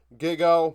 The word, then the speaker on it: Giga: 10th, Giga. Someone tried to tell me, somebody told me in the comments, pronounce the first part like gigabyte, which would be gig, and then O. So Giga.